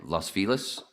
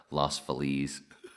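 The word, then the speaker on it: Los Feliz: all the time um i used to say uh la las fellas is right i used to purposely mispronounce it as uh lost feliz just to [ __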